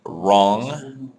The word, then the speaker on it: wrong: So if you remember some words like wrong with a silent W or right with a silent G, light silent G.